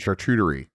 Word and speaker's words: charcuterie: We have curated a fine selection of deli meats and cheeses and charcuterie to go along with these fine One more time.